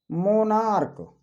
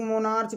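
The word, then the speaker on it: monarch: जैसे कह दिया जाए मोनार्क। अब इसको कुछ लोग मोनार्च पढ़ते हैं, मोनार्च गलत प्रोनाउंसिएशन है। मोनार्क पढ़ा जाता है।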